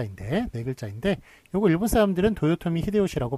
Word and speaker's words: 도요토미 히데요시: 그 보통 내뱉자 인데 백을 짱인데 요거 일본사람들은 도요토미 히데요시 라고 발음을 합니다만 한국에서는 요거를 풍신 죽일 요런식으로 그